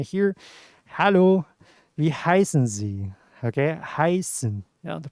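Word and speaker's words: heißen: then you may hear hello lee heiszenzi okay heisen you know the pronunciation is like this yeah hai sin yeah so in english you can translate it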